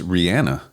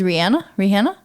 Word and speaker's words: Rihanna: I think it's Rihanna. Technically. Like, which you would assume, like, she's from Trinidad. Like, you would think it's Rihanna. I would just think Rihanna, but that it is Rihanna?